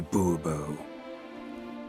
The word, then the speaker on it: Bobo: fine Monsieur de Bobo the emphasis falls on the last syllable Boerboel mm-hmm see now